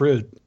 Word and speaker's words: Rud: was my great grandmother she pronounced it rude so that's a that's